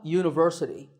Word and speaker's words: university: is a university because even though University starts with the letter U the first sound of the word is not a vowel sound we don't say University we say University so that first sound is a ya sound which is a consonant sound so we say a